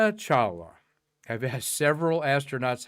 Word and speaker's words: Kalpana Chawla: Honoring Kalpana Chawla. I've asked several astronauts, how do you say this lady's name? Kalpana, Kalpana, and then Chawla, Chawla, and they say Chawla, like you're saying Chawla, but then they all say, we just called her KC.